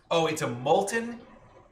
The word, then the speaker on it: molten: But the recipe is, it's a molten. I've never pronounced the T in molten before. Molten. I usually say molten, I think. I think molten.